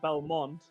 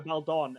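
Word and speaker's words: Baldon: time you said it you said Belmont and I was like Belmont and went no Bel Dawn and I was like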